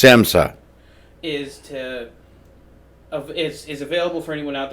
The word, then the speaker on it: SAMHSA: So today, with the help of this public health hotline, It's pronounced SAMHSA.